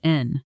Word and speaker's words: and: Notice too how the word and almost disappears in fast natural speech becoming just a quick n sound connecting the two adjectives. Resolute n assertive.